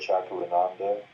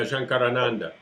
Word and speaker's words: Shankarananda: How do you say it? Chakrananda? Is that his name? Yeah, Shankarananda. Shankarananda from Melbourne.